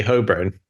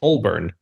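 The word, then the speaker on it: Holborn: made me say hurn because I say hurn that's how I pronounce it it's hurn h o l b o r n hurn and they were like that's not how it's pronounced and so I sort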